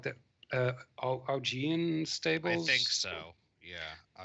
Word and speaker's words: Augean: There's not really I forget how to pronounce that in English. Is it like the Augean stables? I think so. Yeah, Augean.